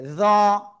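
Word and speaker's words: ظ: এরপরে আমরা যে অক্ষরটা শিখবো সে অক্ষরটা এই যে এই অক্ষরটা, উপরে একটা নোক্তা, জিহ্বার আগা উপরে দুই দাঁতে আগায় লাগাবেন, লাগিয়ে একটু মোটা আওয়াজে উচ্চারণ করতে হবে। জ, জ, সবাই একসাথে জোরে জোরে পড়তে হবে।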